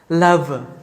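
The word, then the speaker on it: love: লাভ, আমরা বলি লাভ, না না, দুই ঠোঁট একত্রিত হবেই না, লাভ লাভ।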